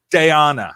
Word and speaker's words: Daijana: Or it's Daijana. Daijana. Yeah. Like spending a day on a beach.